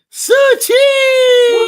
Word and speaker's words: Su-Chi: I may not pronounce her name right, but she's a delight. Su-Chi! Let's go! You did say it right. That's exactly how you say it.